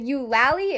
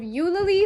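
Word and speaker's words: Eulalie: breakdown now number one i was pronouncing lally wrong i was wondering after jessica williams posted on the wizarding world tick tock and said you lally instead of you lily for the full name yolally hicks and then after watching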